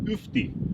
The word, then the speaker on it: ufti: And then it reads U again, F-T-I, Ufti, meaning after. It's spelled differently than that after, but it says Ufti, after.